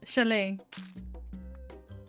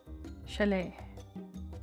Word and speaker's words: chalet: Becca Becca Ranger sha Chalet Chalet that's pretty oh that's how you pronounce CH gotcha cool I've also got